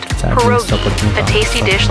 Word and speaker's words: pierogi: Did I pronounce that right? It's pronounced pierogi, a tasty dish like dumplings.